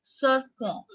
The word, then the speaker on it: serpent: Okay, sun is called soleil and snake is called serpent. Serpent. En sound in French is on.